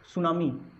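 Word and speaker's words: tsunami: तो जो स्पेलिंग्स होती हैं इंग्लिश में, उससे पता चलता है कि जो टी के साथ में कभी भी एस आता है तो टी जो है वो साइलेंट हो जाता है। जैसे सुनामी, सुनामी जो वर्ड है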